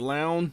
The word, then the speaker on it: Laon: I'm pronouncing it Laon because if you take that N and replace it with an S, I would say Laos, like the country.